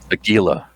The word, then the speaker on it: Aguila: Aguila? Is that how you say it? Aguila.